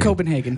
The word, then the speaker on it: Copenhagen: Copenhagen. Okay. Copenhagen would be the German way.